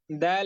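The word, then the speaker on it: د: খুবই সহজ এবং সাধারণ দাল অক্ষরটির মাখরাজ হচ্ছে জিহ্বা আগা সামনের উপরে দুই দাঁতের ঘোড়ার সঙ্গে লাগিয়ে দাল অক্ষরটি উচ্চারণ করতে হয় দাল এবং তা এই তিনটি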